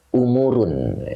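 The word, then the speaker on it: أمورٌ: depannya dibaca khabar ya ini kalau dibaca khabar bacanya umurun Ya putus ya pakai tanwin umurun Jadi dibacanya umurun umurun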